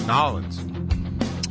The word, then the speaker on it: New Orleans: lot because it's actually New Orleans is if you spell it out nollins I guess that makes